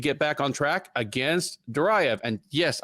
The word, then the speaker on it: Duraev: He will look to get back on track against Duraev. And yes, I know it's Duraev, but I'm just Americanizing it because it's really hard to do that that syllable accent.